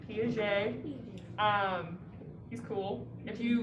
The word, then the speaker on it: Piaget: talk about piaget um that is how you say his name piaget um he's cool if